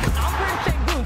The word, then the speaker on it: Alperen Şengün: Alperen Şengün, say his name right.